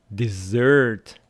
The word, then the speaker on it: dessert: And dessert, dessert, what you eat. Desert, desert, where you don't want to go, the hot place, Sahara. Desert, dessert, stress on the second syllable, dessert. Desert on the first syllable.